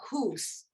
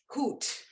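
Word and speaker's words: Huth: from uh Stuttgart named Ursula hoose hoot um it's spelled h-u-t-h and she was a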